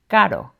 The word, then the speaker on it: caro: It's pronounced this way when it's single and between vowels, like in caro, which means expensive.